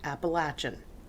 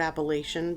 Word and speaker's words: Appalachian: was in Southwestern Virginia they say Appalachian I kind of never use the word Appalachian because I didn't want to be looked at weird because up here we say Appalachian Appalachian is the most correct way to say it either way is correct appalachin is mostly is the most accepted the Appalachian Trail is